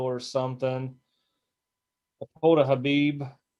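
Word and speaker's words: Khabib: I pulled a Habib. I think that's how you say his name. The K silent.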